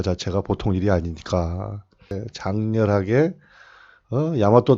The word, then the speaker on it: 大和: 일본도 여기다 대자를 붙여서 대화, 일본식으로는 야마토라고 읽죠.